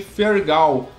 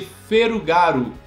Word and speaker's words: Fergal: resistência da gestão Japonesa por causa de seu nome fergal porque era extremamente difícil para os japoneses pronunciarem a letra f r e l ficando algo próximo de Ferro galo o ponto é que